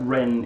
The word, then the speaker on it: Ren: Clarify that Ren is spelled just R. It's just R-E-N, yes, not like Ren. the bird.